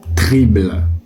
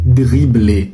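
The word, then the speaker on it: dribbler: Non, ce n'est pas trible. Ce n'est pas triblé. Pourquoi vous faites ça ? Le mot n'a rien demandé. Il s'écrit avec un D. Donc ce n'est pas tribler. Arrêtez de faire ça messieurs. C'est dribler.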